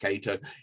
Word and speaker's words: Kaito: he is going cato i believe that's actually pronounced cato he is an absolute